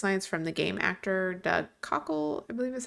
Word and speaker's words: Doug Cockle: have the voice lines from the game actor Doug Cockle, I believe is how you say his name.